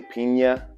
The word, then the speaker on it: piña: the name pina colada or really pina if you want to pronounce it with the spanish uh pronunciation directly translate from spanish